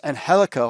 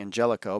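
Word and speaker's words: Angélico: get Cody rhods vers anhelo I kept always saying Angelico but it's anhelo as they pronounce it not really sure what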